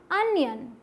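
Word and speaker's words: onion: अब ये क्या है, इसे बहुत सारे लोग बोल देते हैं ओनियन या फिर अनियन, लेकिन ना तो ओ आएगा ना तो नी आएगा, क्या आएगा, अनियन। क्या आएगा, अनियन।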